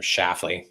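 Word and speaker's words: Schlafly: It's like Schafley, kind of like that. Or Shafley, maybe that's how she pronounces it.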